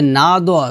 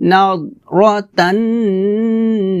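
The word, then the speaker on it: نضرة: ভুলটা করি সেটা হচ্ছে নাদ নাদ বলি নাদ বলা যাবে না বলতে হবে নাদর এভাবে ta'rifu fi wujuhihim nadratan na'im.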